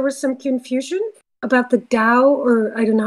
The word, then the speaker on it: Tao: tao is you know in like chinese in religion you know buddhism it's dao you say dao so i didn't know